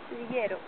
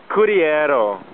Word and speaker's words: Cudillero: Cudillero.